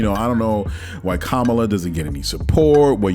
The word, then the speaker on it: Kamala: the next thing uh VP comala excuse me let me say her name right Kamala Harris uh this is